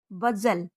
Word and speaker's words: bustle: टी का अगला रूल है, टी के पहले एस हो या टी के बाद एल और TCH के कॉम्बिनेशन में टी साइलेंट होती है। जैसे CASTLE काजल, इसको कास्टल नहीं बोलेंगे बल्कि बोलेंगे काजल। BUSTLE बजल, LISTEN listen, CHRISTMAS Christmas, MATCH match, WATCH watch.